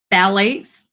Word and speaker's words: phthalates: Phthalates, the P is silent, but it starts with the P.